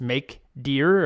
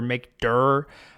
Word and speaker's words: mkdir: to make a directory the command is make deer or make dur I guess I guess you pronounce it directory so make dur I always say make deer in my head it doesn't matter mkdir